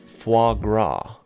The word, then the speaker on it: foie gras: I believe it's pronounced foie gras.